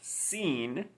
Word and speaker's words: sin: right yes i in s-i-n pronounced scene means without in spanish when you say scene